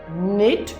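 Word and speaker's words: knit: तो पहले स्टूडेंट ने जवाब दिया, इसमें जो ये वाला निट है इसके अंदर के साइलेंट है, तो ये ऐसा वर्ड है जिसके अंदर एक लेटर साइलेंट है।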